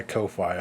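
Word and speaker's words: Ko-fi: product is on my Kofi I put it in the gallery there Kofi coffee why did I say Kofi coffee because because it can be pronounced either way yeah it's it's that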